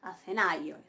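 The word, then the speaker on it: Ἀθηναῖος: Pero yo pronuncio ai, ¿sí? Acenaios. Acenaios.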